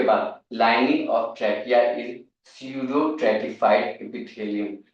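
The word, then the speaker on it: pseudostratified: D shadow ट्रेटिफाइड epithelium P इसमें silent होता है इसे हम लोग सडो ट्रेटिफाइड एपिथीलियम बोलेंगे ई पी आई टी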